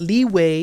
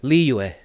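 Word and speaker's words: Liyue: community like oh leeway leeway why it's not leeway it's not leeway i get it i get it i try to say li yue that's how i try to pronounce it but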